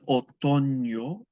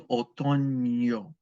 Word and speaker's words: otoño: El otoño, and that N with the tilde over it is pronounced like a ña. El otoño, like an NY. El otoño.